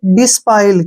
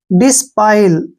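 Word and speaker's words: disciple: ना, कोई बात नहीं, इसको पढ़ेंगे हम एस के बाद क्या आया? सी, सी का उच्चारण हम नहीं करेंगे। डिस्पाइल, क्या पढ़ेंगे इसको? डिस्पाइल, डिस्पाइल शिष्य होता है,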